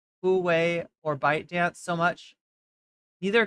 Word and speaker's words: Huawei: It's pronounced Huawei. Oh, it's Huawei.